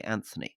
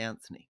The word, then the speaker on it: Anthony: the mooch you both pronounce his first name with a hard T whereas he pronounced it with a soft th any reasons why PS loved the show actually I disagree I say Anthony do you yeah I